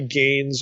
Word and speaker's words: Gane: And for this, I think a good source, a really interesting source anyway, is Roy Gain's article. Gain is spelled Gane, and it's entitled The Bread of the Presence and Creator in Residence.